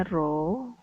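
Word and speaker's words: ρ: atau simbolnya roh Ya seperti huruf v tapi dibacanya roh ya Nah massa jenis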